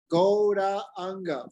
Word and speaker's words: Gauranga: Gauranga, 4 syllables, Radhika. Right? Gauranga. We say Gauranga, but it's 4-syllable mantra.